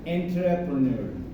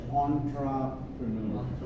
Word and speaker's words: entrepreneur: So we are most likely to pronounce it entrepreneur, but since this is a French word, they pronounce it as entrepreneur.